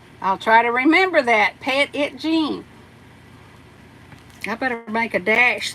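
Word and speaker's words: Petit Jean: lordy lordy Sheila tub says uh uh is pronounced petite ptit pet it Jean pet it Jean okay well thank you thank you I didn't know that but uh I'll try to remember that pet it Jean I better make a dash there cuz you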